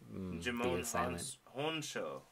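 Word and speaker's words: Djimon Hounsou: I think you don't pronounce the D. Oh, Jimon Honso.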